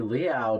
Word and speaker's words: Liao: Liao. It's Liao. kind of like cat's meow, but spelled like chow.